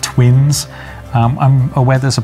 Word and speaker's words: 7VV1N5: so um you're welcome uh it's it's pronounced twins um i'm aware there's a project called lost